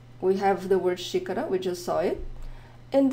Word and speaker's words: xícara: A xícara, xícara. And in that word, we have the pronunciation of the X as the first letter of the word.